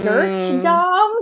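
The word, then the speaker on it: Durte Dom: up with that yeah and it's spelled d-u-r-t-e so it's like like dirt dom so when i read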